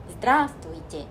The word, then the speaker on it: здравствуйте: 생각을 하시는데 이것도 마찬가지로 здравствуйте. 여기서 아만 한번 찍고 뒤에 있는 나머지 알파벳들은 흘려 발음한다 생각하시면 돼요.